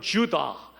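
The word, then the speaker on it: Judah: 출산이 멈추어 떠라 이유다 히브리 말로 는 예후 다 라고 발음합니다 예부터 영어로는 주다 라고 발음합니다 우리말로 뜻을 옮긴 위한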